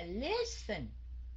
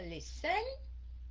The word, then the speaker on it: listen: không có đọc là listen khi nào mình đọc là listen mình mới double Ok Tại vì nó nhấn âm đầu chứ không phải nhấn âm cuối cùng học nh ti mi